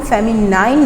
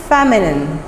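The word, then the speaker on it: feminine: इसको हम फेमिनाइन नहीं बोलेंगे, लेकिन ये आसान आपको करने के लिए मैंने एक टिप दिया है आपको। और वो टिप क्या है कि आपने इतने बड़े स्पेलिंग्स को तोड़ के याद करना है। फेमिनिन बोलेंगे क्या हम इसको, फेमिनिन।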